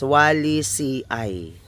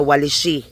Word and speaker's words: El Paraiso: ah Il Paraiso again this is pronounced as Wally CI No Ma'am jein Wally CI hindi siya waly no Hindi siya waly Okay